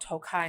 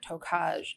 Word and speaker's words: Tokaj: when I told you it was called toai not tokaj did I make fun